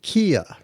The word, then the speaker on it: Kieu: known as the Viet Kieu. I hope I'm pronouncing that right. It's spelled K-I-E-U.